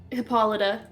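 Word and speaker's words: Hippolyta: can correctly pronounce everything exactly like hippolita and hippo yeah are both correct Nike yeah n n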